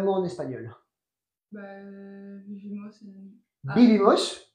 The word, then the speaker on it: vivimos: Parce qu'en fait, vous le prononcez B en fait à chaque fois. La UV? Ouais. Ouais. Vivimos. Il y a des exceptions où n'avait pendant les prises entre deux vocales qui sont différentes. Mais là, comme c'est la même vocale, on prononce B.